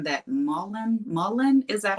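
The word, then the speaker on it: mullein: They're all saying that Mullen, is that how you say it?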